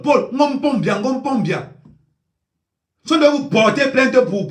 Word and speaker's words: Paul: vous dis quelque chose, il faut prononcer bien le nom de Paul. bien on dit Paul P a U Paul Paul de vous porter plainte